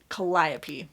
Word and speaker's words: Calliope: This is following the family starting with the Greek grandparents down to our main character, Calliope. I always mispronounce that, so I'm glad I pronounced it correctly this time. Calliope Stephanides, I believe is how you would say her last name.